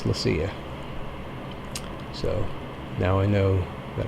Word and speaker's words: Leccia: So I went to the source and I asked him, and he said it's Leccia. So now I know that I'm saying it correctly when I say Leccia.